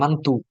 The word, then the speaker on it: Mantoux: Tes Mantoux, aduh, Mantoux itu tulisannya gini, Mantoux, bacanya Mantu, Mantu teks, Mantu teks, Mantu tes.